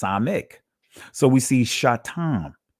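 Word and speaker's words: ס: Now there is a s sound in ancient Hebrew, the samak. Israeli language is pronounced samek.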